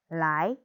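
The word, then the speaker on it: 来: Ditambah dengan nada 2, nada naik seperti orang bertanya menjadi lai.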